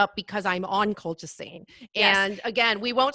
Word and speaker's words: colchicine: It's colchicine. Oh, was it? Okay. I felt like I added an extra syllable in there.